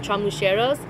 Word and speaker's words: chamulleros: They call them chamulleros, if you pronounce it with the L's.